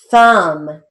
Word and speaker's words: thumb: o thorn t-h-long o-r-n thumb t-h-u-m it's kind of silent b so we're going to write it phonetically thumb thigh t h long